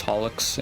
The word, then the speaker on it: holoX: I still can't take him seriously though because the like Japanese um freaking like pronunciation is holox and it and it just sounds like a freaking cleaning product to me, man.